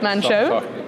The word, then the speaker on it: Manh Choh: So now let's start off with the, congratulations on the construction decision at, I have to pronounce it now, Manh Choh? Manh Choh.